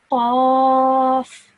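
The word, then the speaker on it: قاف: So a thick sounding letter, I would say Qaf, and a thin sounding letter of this, I would say Kaf.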